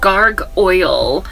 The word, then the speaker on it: Gargoyle: run with anybody's 411 it is spelled g a r uh G like gar uh and then Goyle yeah so o o y l e gar oil y l e not oil like the oil that is on my